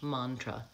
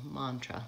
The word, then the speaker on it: mantra: can see what happens there is the vowel Oh like in hot and not and it's a schwa and the second syllable because it's unstressed mantra that little line there before the mom shows me that that's the stressed syllable mantra let's listen again okay